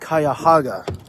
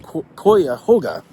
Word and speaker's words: Cuyahoga: at the Hampton in and he says it's pronounced kayah haa I was saying kah hoga but I guess it's kayaga or maybe it's